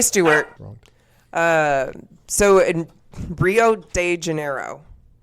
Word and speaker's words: Rio de Janeiro: Okay, and so Sabina, who is Kay Stewart, so in Rio de Janeiro. How do you say it? Rio de Janeiro. Janeiro. Janeiro. That's not how they say it. It's J-E, so Janeiro, yes.